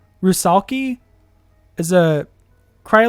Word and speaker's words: rusalki: Wikipedia tell me a salvic folklore arushakla um pronounced rusalki is a cry like I'm sorry it is